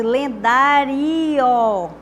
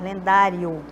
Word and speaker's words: lendário: Então, se eu pronunciasse lendario, o nome fosse lendario, aí sim, seria um hiato, mas lendário. É tanto que a gente nem ouve direitinho o som do O, né? Então, é um ditongo.